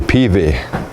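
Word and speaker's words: peavey: This is called a PV.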